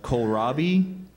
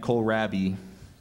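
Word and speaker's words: kohlrabi: German word are there are there any other pronunciations I have K Robi and col rabi may have the definition any of a variety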